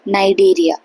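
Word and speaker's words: Cnidaria: तो Coelenterata phylum को हम एक और नाम से जानते हैं, नाइडेरिया। अब ये शुरू सी से ही हो रहा है पर प्रोनाउंसिएशन इसकी नाइडेरिया है, राइट।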